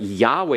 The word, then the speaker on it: Yahweh: it as Adonai but Yahweh has two syllables and then you have